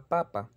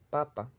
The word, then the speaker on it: papa: Lo único que diferencia es la tonicidad, el acento tónico, papa y papa.